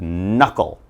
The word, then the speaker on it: knuckle: knot alright and then down here we have knuckle alright knuckle kind of like how knee is